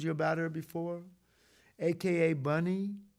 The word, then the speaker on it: Bunny: about her before aka bunny b-u-n-n-y rhymes with funny and she was funny